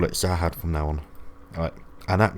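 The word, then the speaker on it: Zahard: as Leroro says, that's because she is Anak Jahad. Wait, no. Zahad. Okay, so they pronounce it Zahad, right? But in the subtitles spell it as Jahad. I think I'm going to have to call it Zahad from now on.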